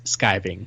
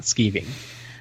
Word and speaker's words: skiving: as a note on the proper way to say skiving and its usage you guys are just wrong it is skiving not skeeving but i think it